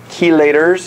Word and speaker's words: chelators: Researchers at Wake Forest said that iron chelators, is how you pronounce that, may be a valuable therapeutic agent in the treatment of cancer.